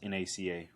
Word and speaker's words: NACA: was an initialism ie it was pronounced as individual letters rather than the whole world so it's pronounced NACA sort of like how